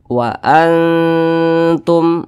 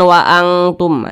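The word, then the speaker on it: وأنتم: sehingga dikatakan aqrab Nah maka cara bacanya itu disamarkan kemudian juga didengungkan nah karena dia ini akrab maka ketika melafazkannya itu dia lebih condong berbunyi n nah tapi disamarkan Wa Antum Wa Antum jangan waantumah itu ketebalan e ketinggian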